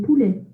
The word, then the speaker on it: poulet: Le poulet. Le poulet. Le poulet. Le poulet. Le poulet. Poulet. You don't say the T at the end, so you just say le poulet. Silent T there.